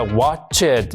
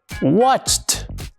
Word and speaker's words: watched: Un ejemplo más, este verbo que el guillito no sabía pronunciar. Si tratamos de hacer este sonido que está al final del verbo watch y nos tocamos la garganta, vemos que no produce ninguna vibración. Entonces, el verbo en pasado no se pronuncia watch it, sino watch. y le ponemos ahí este sonido. Watch, watched.